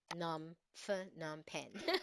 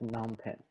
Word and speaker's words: Phnom Penh: So, Mm, so I just go with an H, num pen. no, That's it. Phnom Penh.